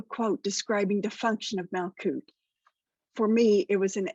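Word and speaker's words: Malkuth: fact research revealed that it is indeed pronounced malcoot and it is spelled exactly as i've written it in my notes but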